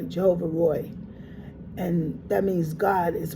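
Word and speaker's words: Jehovah Roi: And it's R O I that's Roy. Jehovah Roy.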